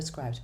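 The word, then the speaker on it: Scribd: I prefer Scribed personally, but I've been told that Script is how the company pronounces it.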